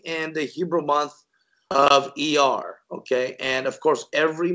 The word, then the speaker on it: Iyar: And this Hebrew month, this is the month of Iyar. And literally in English vernacular, it's spelled I-Y-A-R.